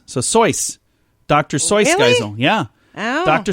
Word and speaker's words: Seuss: it's not really pronounced seuss it's pronounced it's supposed to rhyme with voice so soys dr seuss geisel yeah